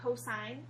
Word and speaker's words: cosine: cosos and we again it looks like Co but we actually say cosine for every time we see